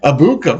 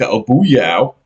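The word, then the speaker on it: Egbuka: Abuka. Very good. I was going to say Emeka Obuyao.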